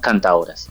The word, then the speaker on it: Cantaoras: K, Alecuma con K, y Cantaoras lo escribimos sin D, o sea, a la manera como se pronuncia en lengua parenquera la palabra cantaora, cantaora sin D.